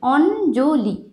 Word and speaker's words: অঞ্জলি: এবারে দুটো উদাহরণ লিখেছি এর উচ্চারণে ন আর জ এর আসে যেরকম অঞ্জলি অঞ্জলি লিখবো আমরা এরকম কিন্তু আমরা যখন অঞ্জলি উচ্চারণ করব তখন দেখো অঞ্জলি অঞ্জলি উচ্চারণটা কিন্তু হবে অঞ্জলি কিন্তু অঞ্জলি ইয় জয় যুক্ত হয়ে তার উচ্চারণটা নয় আর জ এর আসছে অঞ্জলি ঠিক আছে অঞ্জলি